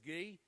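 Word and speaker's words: Gui: And already, Mick tells me that the donations that are coming in now, and I can tell Mark and Guy, it's spelled G-U-I, but it's Guy, is $13,000 have come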